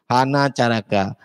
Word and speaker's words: hanacaraka: adek-adek ya tanya gurunya hanacaraka jadi membacanya itu tidak kali adik dan sekali dibaca hanacaraka hanya itu ya 55 tadi